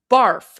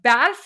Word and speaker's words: barf: So barf is snow, but it's not pronounced barf. It's pronounced barf like hat. So think of the word hat. That's the A sound.